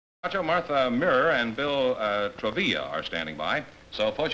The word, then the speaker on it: Travilla: Martha Mira and Bill Travilla, huh? Does that rhyme with Travilla? gorilla? No, huh? no. Noel pronounced.